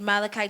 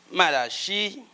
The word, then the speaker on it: Malachie: Malachie. D'autres prononcent Malachi. Malachie. Il n'y a pas de souci. Si nous parlons de la même chose. Hein. Donc, il y en a qui disent Malachi.